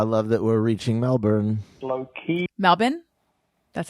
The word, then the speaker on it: Melbourne: that's enough I love that we're reaching Melbourne Melbourne that's how they say it is Melbourne don't